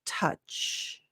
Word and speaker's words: touch: clients will tend to add a sound at the end of touch so touch that also even as I say it right it sounds very Italian so there you want to make sure you you close your mouth avoid having that extra moment so touch touch base